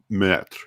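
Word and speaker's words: Maistre: speaker she's from morocco and she just says met she's like oh it's met and i'm like okay that's that's what i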